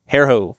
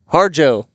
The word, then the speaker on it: Harjo: Hairho. We're going to say Hairho. Harjo. A lovely fan in the crowd helps me out with that one.